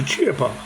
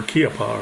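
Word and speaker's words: Chiappa: And he said, that's a Chiapa, or Kiapa, or however anybody wants to pronounce it. Have at it. I call it a Chiapa.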